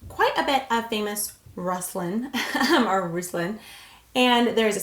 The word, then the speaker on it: Ruslan: Now, I can see this being pronounced Ruslan or Ruslan. It's Ruslan.